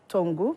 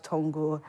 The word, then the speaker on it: Tongu: the MP for South Tongu, Honorable Maxwell Lukutor. Good morning, Honorable. Good morning. It's South Tongu, not Tongu. You don't pronounce the G.